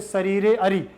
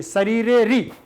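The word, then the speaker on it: शरीरेऽरि: खंडाकार न विधि यते केवल महसूस होना चाहिए कि यहां आ है उच्चारण आपका बाहर नहीं होना चाहिए शरीरे री आपको पता होना चाहिए कि यहां आ है ऐसे नहीं शरीरे अरी तो सामने वाले को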